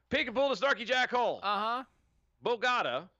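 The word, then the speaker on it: Bogotá: Bogata. Bogata. You're putting the wrong emphasis on the wrong syllable.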